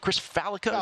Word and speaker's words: Chris Fallica: at Fox Sports, which Chris Fallica, is that how you pronounce it? Chris Fallica is the host of? Yep.